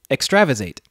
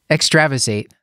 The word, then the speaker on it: extravasated: Vaes eight how do you say it stuart extravasated extravasated ah ooh I mispronounce words all the time so thank you